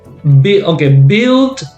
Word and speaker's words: build: Remember build, not build. Okay, build. It's build. Also, we say building.